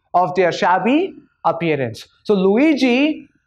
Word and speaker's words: Luigi: This is a Scottish name. It is pronounced as Luigi.